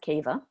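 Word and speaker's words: Caoimhe: was to work out how to pronounce kieva's name because you've written it in gaelic and it looks nothing like kiva and and this is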